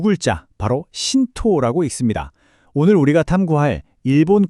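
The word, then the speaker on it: 神道: 지금 화면에 보이는이 두 글자 바로 신토라고 읽습니다.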